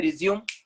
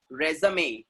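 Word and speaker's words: résumé: लोग उसको बोलते भी रिज्यूम, रिजेक्ट हो जाते हैं. That's not रिज्यूम, that is what? रेज़मे. That is what? रेज़मे. रेज़मे, रेज़मे. इट इज नॉट रिज्यूम, इट is what? रेज़मे.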